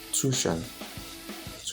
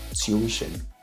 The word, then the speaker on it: tuition: The Americans will call it tuition, while the British will call it tuition. There's a E sound and the British pronunciation. Tuition, like stew, tuition. Or the Americans would just say tuition. So, and also there's a short E, tuition. So it's not tuition.